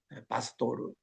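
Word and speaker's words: pastor: 근데 내가 갔더니 그 당신이 바스도르 그이 사람들은 스페니시 발음이 바스도르라고 그러거든요.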